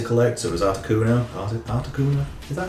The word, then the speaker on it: Articuno: Articuno? Is that how you pronounce it?